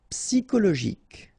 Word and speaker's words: psychologique: Psychologique. Okay, remember it's an exception here because you've got this C-H-O. Normally we should pronounce it sho, okay, but in that case we pronounce it ko.